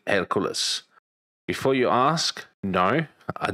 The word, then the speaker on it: Hercules: I pronounce it Hercules.